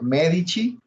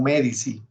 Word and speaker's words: Medici: lorenzo de medici usted uno puede pronunciar medici o me dice en en italiano la c a veces se pronuncia como che entonces bueno pues si